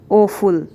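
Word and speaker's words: awful: इसे कैसे पढ़ेंगे, ओफुल ओफुल। ठीक है। ये प्रोनाउंस कैसे होगा, ए डब्ल्यू एफ यू एल ओफुल और ए डब्ल्यू एस ओ M awesome.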